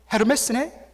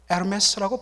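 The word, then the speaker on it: Hermès: 가지고 제 아내에게 어 이거 헤르메스 이야기했더니 제 아내가 말했습니다 여보 이것은 부로 에르메스라고 발음을 해야 돼요 솔직히 조금 자존심이 상했습니다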